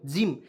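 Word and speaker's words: gym: तो इसे क्या पढे दोस्तों जी वाई एम जिम तो क्योंकि देखिए जी का उच्चारण ज हो हो जाएगा देखिए मैं लिख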